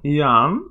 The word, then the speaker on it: Jann: yeah and he also actually taught me how to say his name Yan so Yan so anyway